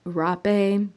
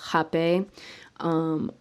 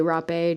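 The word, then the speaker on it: rapé: cape so jape is a lot of people call it rape because of the way that it's spelled um but the pronunciation is hape i sometimes say rap a just so people know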